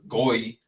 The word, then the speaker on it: goy: never describes Israel as Goy. Again, that's what the Yiddish pronunciation would be, or the common kind of acceptable pronunciation. It's usually Goy is how I hear it.